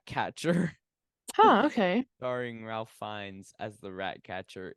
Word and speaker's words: Fiennes: Starring Ralph Fiennes as the rat catcher. It's so depraved. Oh, It's fun fact. disgusting. What? It's actually pronounced Rafe. Really? Yeah. Rafe Fiennes?